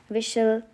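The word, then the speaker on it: whistle: लिसन, विशल, Christmas, often, तो यहाँ पे सब जगह क्या है?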